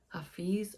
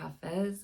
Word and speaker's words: Hafez: There's ancient Sufi poet, Hafiz or Hafez, his name is pronounced differently, I think, depending on the dialect.